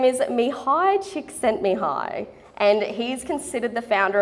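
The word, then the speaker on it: Mihály Csíkszentmihályi: would be rude not to his name is Mihai csíkszentmihályi and he's considered the founder of the flow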